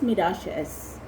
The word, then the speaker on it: Miralles: Garcia and Francis Miralles, but that's pronounced as Francis Miralles.